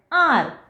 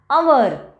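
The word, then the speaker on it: hour: We do not pronounce this H. Okay? Because this H is silent here. Okay?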